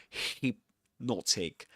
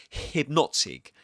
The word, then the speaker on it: hypnotic: There shouldn't be any friction you know in your mouth in your throat. You shouldn't say hypnotic but hypnotic.